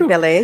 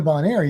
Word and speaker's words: Bonaire: Did I say it right? You did. You didn't say Bel Air. You said Bonaire.